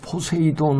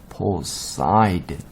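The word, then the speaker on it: Poseidon: 그래서 포세이돈 하는데 영어로 발음은 포사이돈이에요. 보세요. 뒤에서 하나, 둘, 셋. 포사이돈.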